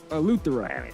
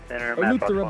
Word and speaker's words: Eleuthera: Eleuthera. Eleuthera, Bahamas.